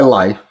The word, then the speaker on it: LiEF: Now to rewrite that, we're going to say my life. You're going to spell that L I E F.